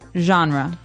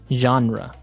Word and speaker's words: genre: pronounced differently we say genre genre or genre this kind of sounds French is it French I